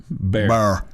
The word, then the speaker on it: Bear: It sounded like you said Barron, sorry. Oh, sorry, not Barron. Not Barron. Bear.